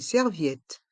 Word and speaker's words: serviette: Une serviette. Une serviette. Dans le mot serviette, On prononce bien ensemble la voyelle I et le son et à la fin du mot.